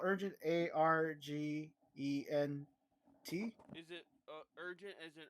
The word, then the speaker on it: Argent: tore Wing okay I don't know how I pronounce that no Argent Argent oh Argent Argent Wing yeah Argent Wing